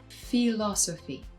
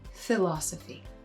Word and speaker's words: philosophy: You can hear it in Tony's pronunciation of philosophy, which most English American speakers would pronounce as philosophy.